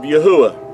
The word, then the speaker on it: Yahuah: And if you remove the D out of Yahudah, you have the pronunciation of Yahuah.